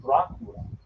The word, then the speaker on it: Dracula: Now, where he got the name Dracula, because it's actually pronounced Dracula, is his father was a